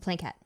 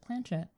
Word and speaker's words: planchette: The plankette. Blanket for us. I've always pronounced it planchette. Plankette, planchette, whichever way you want to, really.